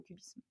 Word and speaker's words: QBism: Alors cubisme, ça s'écrit Q-B-I-S-M, le Q pour quantum, et c'est l'acronyme en fait de quantum Bayesianism.